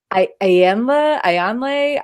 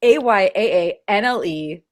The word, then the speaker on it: Ayaanle: And then there's the Ayanle. That one it's Ayaanle.